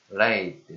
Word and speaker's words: lathe: lathe, 다시 발음은? lathe, 영국식 발음으로? 네. lathe, lathe, lathe.